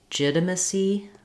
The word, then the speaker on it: legitimacy: syllables legit and then here again we can say misi or masi I think it's more typical to use a schwa in this context of that unstressed um second to last syllable and then our letter c y say this and E sounds just like the word c you can do the same technique for starting on the stress syllable that would sound like legitimacy legitimacy also for both of